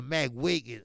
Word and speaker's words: McGuigan: The McWigan. Okay, it's spelled McGuigan. Right.